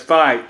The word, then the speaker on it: Fite: called West Avenue and one of them is fight Street F ite that's how you spell it so I was at the corner of